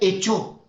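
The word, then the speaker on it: ἔχω: Esa palabra retén en el griego se dice ejo y se pronuncia, se escribe ejo en el griego. Retén se escribe ejo y se pronuncia echo, pero se escribe ejo y se pronuncia echo.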